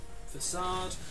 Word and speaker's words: Facade: we want to see arcade i know it's pronounced facade don't worry well that's big damage does he